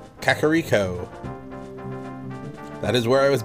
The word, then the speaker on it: Kakariko: Kakariko. Kakariko.